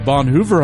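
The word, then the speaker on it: Bonhoeffer: The Gospel Underground podcast is produced in partnership with the Bonhooer I'll say it correctly because Randy said it earlier correctly the Bonhoover House.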